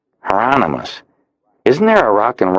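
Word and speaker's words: Hieronymus: Heronomous rhymes with anonymous. Heronomous.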